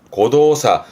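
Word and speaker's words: 誤動作: 발음은 고도사.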